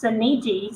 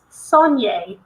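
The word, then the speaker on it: Soneji: the main bad guy his last name is spelled like s-o-n-e-j-i so we both decided it was pronounced sinigi so we called him that the whole time and then like a movie came out and it's sonya i was like absolutely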